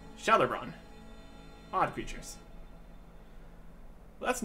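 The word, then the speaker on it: Gjalerbron: They call the place Jelleron, though you pronounce the G J as if it were a sh. So, Jelleron.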